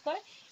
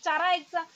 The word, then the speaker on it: Chara: কারা, এটা অনেকে চারা প্রোনাউন্স করে, কিন্তু কারাটা সার্বিক গ্রাহ্য, ঠিক আছে।